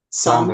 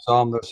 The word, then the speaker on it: Sander: Sander. Saunders? Sonder? Sanders is good.